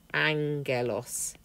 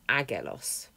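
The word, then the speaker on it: ἄγγελος: going to be pronounced Angelos not agelos think about the English word Angel and that should be fairly obvious under 2.4 he then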